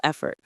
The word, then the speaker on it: effort: that takes physical effort. Or studying for a big exam, that takes mental effort. The stress is on the first syllable, F. It's like saying fret, but with an e sound.